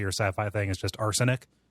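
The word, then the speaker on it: Arsonyk: sci-fi thing is just Arsenic. Arson spelled like the crime, and then YK at the end. Like no good Nick or whatever.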